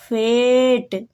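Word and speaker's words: fate: Next है ए के बाद अगर कॉन्सोनेंट आता है उसके बाद ई आता है तो ए का उच्चारण ए होगा। ए मतलब ए की मात्रा। तो इसको एफ को देखिए फा पढ़ा जाएगा, एफ को फा, ए को ए, तो क्या होगा फे, और टी को टा, तो क्या होगा फेट। ई का उच्चारण नहीं होगा तो इसको फेट पढ़ा जाएगा।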